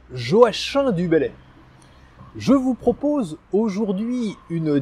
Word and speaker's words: Joachim du Bellay: Et oui, on prononce bien Joachim du Bellay.